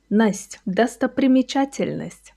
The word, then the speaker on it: Достопримечательность: Watch slowly. Do, sto, примечательность. Достопримечательность. You see, it's not hard.